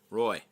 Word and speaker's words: Roy: Yeah, and then Roy told me how to pronounce his name properly. So I'm just going to call him Roy. Roy.